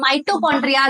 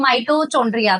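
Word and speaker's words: mitochondria: जैसे कि हम माइटोकॉन्ड्रिया जो एक ऑर्गेनल होती है, तो एक स्टूडेंट थी वो सेइंग माइटोचोंड्रिया, तो उसकी जो ये प्रोनाउंसिएशन थी उससे मुझे काफी हंसी आई थी और पूरी क्लास काफी हंसी थी।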